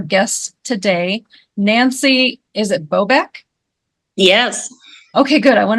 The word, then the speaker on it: Bobeck: to welcome our guests today Nancy is it bobc yes okay good I want to make sure I pronounced your your name correctly so we have